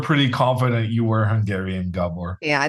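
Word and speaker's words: Gábor: Uh, we were pretty confident you were Hungarian, Gabor. Yeah, the way he put the accent on the O there is no doubt.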